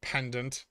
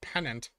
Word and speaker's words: pennant: It's not pronounced pendant. It's pronounced pennant.